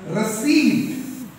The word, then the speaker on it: receipt: pronunciation that schools do receptor it's very wrong please take this money and give me a receipt the p has got no sound it's rusty so also